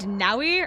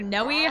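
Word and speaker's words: Nowi: Fire Emblem character named nauwi or Noy however you pronounce it I think it's Nai it's it's n o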